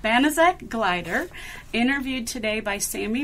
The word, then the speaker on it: Banaszak: Hello, this is an oral history interview with Banaszak. Is that the correct pronunciation? That is correct. Banaszak Gleiter, interviewed today by Sammie Morris in the Purdue Oral History Program Project.